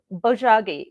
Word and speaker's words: Bojagi: So it can be spelled with either a B or a P, because those sounds are similar to each other, and Korean, of course, is not English. So Bojagi, B as in boy, O-J-A-G-I, Bojagi.